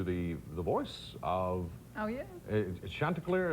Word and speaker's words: Chanticleer: Chanticleer. Is that the way you pronounce his name? Chanticleer, Yeah.